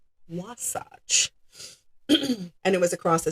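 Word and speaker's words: Wasatch: straighter and supposedly quicker path um through the Wasace Mountains. I had to look up that pronunciation, Wasach.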